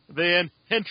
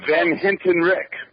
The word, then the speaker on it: Van Hentenryck: we he's got a hard last name to pronounce it's van heni is that right that's close van Hinton Rick Hinton Rick I feel so bad he felt